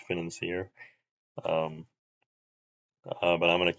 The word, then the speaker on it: Financier: a challenge like this more so than the financer because there's not really much that you actually break in the financer, even if you're doing it normally.